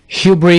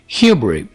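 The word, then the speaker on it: hubris: घमंड या गरूर को इंग्लिश में ह्यूब्री कहते हैं, यहां पर हम एस को साइलेंट रखेंगे। ह्यूब्री।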